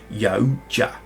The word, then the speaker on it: Yautja: Apparently, you pronounce the Predator's sort of name as a grouping as Yautja. I think is the correct spelling. It's Yautja.